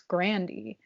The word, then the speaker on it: Grande: revealed it in 2018 she was explaining the right way to say her last name and she said it's grandy i'm gonna stick with